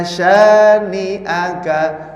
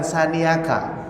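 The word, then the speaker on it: شانئك: Pak Mursyid tadi ini pengucapan A-nya nggak begitu jelas ya. Ini harus jelas. Inna syani'aka bukan sani'aka.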